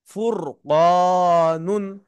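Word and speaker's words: فُرْقَانٌ: র কে মোটা করে পড়তে হবে। ফুরফার পেশ ফুর ফুর বলা যাবে না। ভুল ফর পেশ ফুর কফ আলিফ জবর ক ফুরুন দুই পেশ নুন ফুরকানুন।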